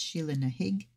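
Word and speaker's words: Sheela na gig: Sheila Nahig. Well done. So yes, it's spelled Sheila Nagig, but I have read that it is pronounced Sheila Nahig.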